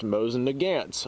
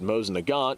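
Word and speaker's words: Mosin–Nagant: the gods now I have seen this rifle pronounced Mosin nagance on a like very regular basis and whenever I pronounce it Mosin Nagant which is the way the name is uh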